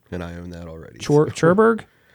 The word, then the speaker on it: Cherbourg: Cherbourg? It's Cherbourg. Cherbourg. Yeah, I always it's pronounce French. it the way the characters in the movie pronounce it.